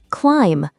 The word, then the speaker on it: climb: Climb. Say climb. That silent B is sneaky. It's usually at the end of the word after M.